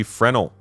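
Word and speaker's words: Fresnel: Last up is the Volt LMG Frenel. I learned from a very helpful Redditor that the S is silent in Fresno.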